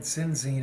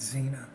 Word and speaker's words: Zena: And I called him Sinzine, and he goes, no, I'm Zena.